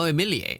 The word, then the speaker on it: Emilie: Oh, Emilier. Oh, that's how you pronounce her name.